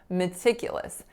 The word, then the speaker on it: meticulous: attention to detail so meticulous has four syllables and how many of them are schwa when I say meticulous so three of them pretty amazing so the first the third and the fourth they're all choise the second syllable the